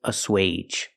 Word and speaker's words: assuage: And the last word is assuage. Assuage is a verb and it has a long a sound for a ge.